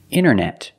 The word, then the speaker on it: internet: Other examples, internet. Internet or internet.